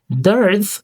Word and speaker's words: dearth: Dearth means a serious lack of something that is needed or expected. The pronunciation, dearth. It is a short, one syllable word said quickly and clearly.